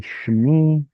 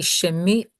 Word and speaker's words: שמי: Would it be shemi or shmi? It's supposed to be shmi, and in modern pronunciation where everyone's lazy, it becomes shmi. So we in biblical Hebrew would say shemi.